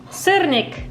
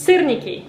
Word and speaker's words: syrniki: flower and you form this little cute cernik guys you have to pronounce it right syrniki okay it's very delicious